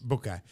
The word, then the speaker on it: Boakai: Yeah, Boakai.